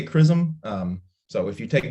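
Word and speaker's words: XRISM: and spectroscopy mission uh which we do pronounce chrism it's one of the most common questions i get is how do you say that word is it extraism or scrism we say chrism um so if you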